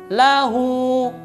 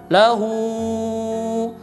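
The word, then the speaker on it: لَهُ: di sini oke tiga membaca kalimat lahu lahul ia membacanya lebih daripada dua harokat Nah ini salah karena Lawu itu adalah map Silah qasirah dibacanya cuma dua harakat maka bacaan yang benar adalah lahu lahul tidak boleh dibaca dengan panjangnya berlebihan tidak boleh dibaca dengan lauhu ya lahu tidak boleh ia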